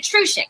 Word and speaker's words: Trusyk: me if i've said it wrong it's tina truschick right yes perfect right tina trisha okay and